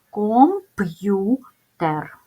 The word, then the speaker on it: комп'ютер: у т е р в цьому слові дев'ять звуків ми бачимо відмінність в кількості звуків та букв тому що буква ю стоїть всередині складу але після апострофа і вона позначає два звуки запам'ятайте як пишеться це слово і як вимовляється компютер